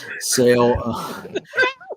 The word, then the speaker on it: Sale: Sale. Now that you've got French in my head, Jason, I'm going to keep screwing that up. No, it's spelled just like Sale. It's spelled like Sale.